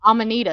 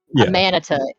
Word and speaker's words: Amanita: Amanita is how it's pronounced.